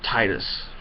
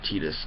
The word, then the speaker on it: Tidus: And I mean, like, your character, an example of which is Tidus or Tidus, depending on where you're from and how you pronounce it, but from Final Fantasy X.